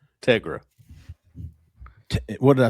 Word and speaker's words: Tegra: Now, I I asked It's like Tega, but with an R. Tegra.